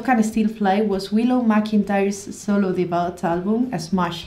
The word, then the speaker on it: McIntyre: how to pronounce McIntyre McIntyre it sounds really British as an a an as an assar name McIntyre like a tire of the car okay so McIntyre Pat